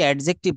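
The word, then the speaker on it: adjective: এডজেক্টিভ বলবো না। এটা বলব এডজেক্টিভ। ডিটা এখানে সাইলেন্ট থাকবে। এটাকে কি বলব? এডজেক্টিভ। এডজেক্টিভ। এখানে ডি বলা যাবে না।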